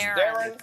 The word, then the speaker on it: Theron: Yeah, it's Darren. Like Barron.